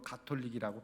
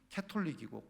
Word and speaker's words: 가톨릭: 어쨌든 그래서 저는 일부러 가톨릭이라고 발음 안 씁니다 정확한 발음은 카톨릭이고 카톨릭인데 왜 가톨릭이라고 카톨릭이 유니버설하고